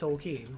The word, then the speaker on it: Tolkien: Because it's pronounced Tolkien. It's actually pronounced Tolkien.